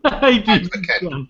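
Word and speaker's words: Advken: Advoken. Advoken, yeah, is that how you say it? Advoken.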